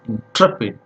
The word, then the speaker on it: intrepid: So almost the first syllable is swallowed, and we have to listen it very carefully.